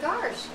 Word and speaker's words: gosh: I heard that if I say the word, how do you say the word G-O-S-H? Gosh. Gosh? Is that how you say it? Yeah. See, when I was growing up, we always said garsh.